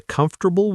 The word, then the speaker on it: comfortable: three soft th comfortable three syllables receipt silent p vegetable